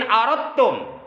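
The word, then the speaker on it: أردتم: Jadi tulisannya aradatum, tapi dibacanya dalnya diidghamkan, dimasukkan ke huruf ta yang ada di hadapannya. Jadi di sini kata Nabi, in aradtum, jika kalian ingin aisyah syuhada, kehidupan yang bahagia.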